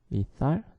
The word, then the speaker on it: lethal: lethal. 자, TH 발음에 주의해야겠죠. lethal.